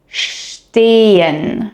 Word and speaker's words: stehen: So, instead of pronouncing it st, you pronounce it sht. And instead of pronouncing SP as sp, you pronounce it shp.